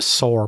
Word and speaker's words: sore: with the saw paw i see you so use pronounced the word s-a-w and s-o-r-e the same exactly the same but for me the difference i saw the bear with the sore paw yeah it's different so slightly different and if i were